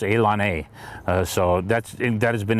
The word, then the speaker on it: ilani: for saying things wrong i initially pronounced elon a as ilani because that's how i thought it sounded and i was lectured by some people far younger than i am that david is pronounced elon a so that's that has